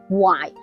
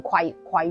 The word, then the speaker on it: 槐: 注意啊，木字旁加個鬼字，呢個字普通話讀槐，粵語讀槐，唔好讀成葵樹咯。